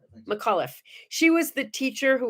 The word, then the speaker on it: McAuliffe: the day that christy i don't can never pronounce her name properly macklit mcliff yeah she was mcauliffe mcauliffe she was the teacher who was chosen to